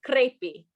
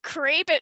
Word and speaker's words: crepi: I thought you said crepe. Maybe I'm just hungry, but I thought you said crepe. It does sound like, and that's the word I think is spelled crepi.